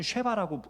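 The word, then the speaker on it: שבע: 맹세라는 말은요 똑같은 말이에요 일곱은 쉐바라고 읽고요 맹세는 소바라고 읽습니다 시옷 비읍 시옷 비읍이죠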